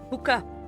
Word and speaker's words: puka: Puka. P-U-K-A is how it's spelled. P-U-K-A for puka shell.